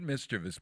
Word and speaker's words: mischievous: There is no I in mischievous.